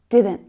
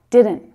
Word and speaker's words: didn't: And then we have our past tense form, did not, which is didn't. You're right, didn't. That first D is stronger than the second one.